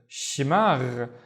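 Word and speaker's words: شماغ: The first syllable, she. The second syllable is magh. So we have the gh at the end, the one with the gargling, right? Magh. Shimagh.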